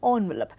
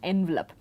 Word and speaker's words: envelope: If you look at this word, now mostly pronounced as envelope, but this is originally from a French word. So, in that sense, it used to have a French pronunciation for a very long time, which was also accepted as standard. It used to be some 25-30 years ago, the standard pronunciation, the more accepted pronunciation was envelope.